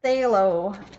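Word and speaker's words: phthalo: mixes in say hello I don't know how to pronounce it PTH al o which is already a shortened other chemical word to be Tala Tala I say hello that's how people say it say hello or plate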